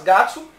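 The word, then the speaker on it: 月: E que no mês, né, para formar o mês, você vai ler não Getsu, mas Gatsu. É só colocar o número de 1 a 12 mais Gatsu.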